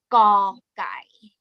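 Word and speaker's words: ก ไก่: So as you can see, this word is called gõ gai. Gõ gai. Well, you can also it sound more like this, or like awesome กอนะคะกอไก่ because this letter has g sound g initial consonant sound please pronounce ค่ะ g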